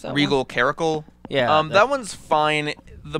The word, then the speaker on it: Caracal: How do you pronounce that? Regal Caracal.